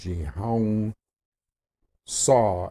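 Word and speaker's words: Haung Sau: It's basically, it's H-A-U-N-G, Hung Sa, S-A-U, okay? But you say it like, you say the Hong like Hong Kong, and you say the Sao like Saw, okay?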